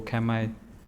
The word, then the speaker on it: Kamay: And it's to do with Kamay, or Kamay, as our old people pronounced it.